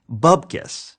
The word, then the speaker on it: bupkis: As of 2014, researchers have discovered precisely bupkis. Bupkis is spelled with a P, moron.